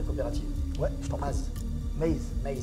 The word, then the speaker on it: Maze: Maze. Ouais, Maze. Comme Waze.